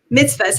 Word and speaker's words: mitzvos: i'm curious um with your book a thousand mitzvos did i say it right yeah you said it right you said it right mitzvahs how small acts of kindness can heal inspire